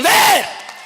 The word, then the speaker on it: வேர்: நறுக்குவோம் பகையின் வேறு சிறுத்தை பெருங்கூட்டம் அப்படி சொல்லக்கூடாது ராஜா. நறுக்குவோம் பகையின் வேர் சிறுத்தை பெருங்கூட்டம்.